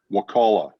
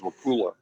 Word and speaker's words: Wakulla: Wakulla because I've been trained how to say it properly. I used to think it was Wakula, and then Mike taught me how to say it properly.